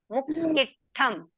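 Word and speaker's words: मुक्किट्ठं: यहाँ पे डबल है और यहाँ पे डबल है, तो प्रेशर देके पढ़ना है। मुक्किठम ऐसा पढ़ना है।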